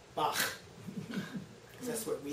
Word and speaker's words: Bach: sound at the end of the composer's name, Bach, because that's what we say it. Okay? It's not the way they say it in Germany. It's a softer sound, something like Bach.